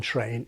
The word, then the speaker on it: train: Of the American respondents aged 60 plus, less than a third felt that the first sound in train is ch, although that's actually higher than I expected.